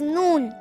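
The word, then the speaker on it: نون: hi my name is noon noon noon noon you can spell noon in English as n o o n noon it sounds like the English alphabet N N for nurse noon how to pronounce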